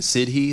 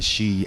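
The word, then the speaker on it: sidhe: by the way that that word is spelled s d he e so probably half of you are thinking Sidi that's why I read it forever it's actually shei that's the word though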